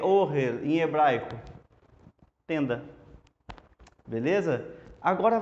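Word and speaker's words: אֹהֶל: Então, como que é tenda em hebraico? Ohel. Ohel. Não é ohel. Não é ohel. Se você estiver pronunciando ohel, tá errado.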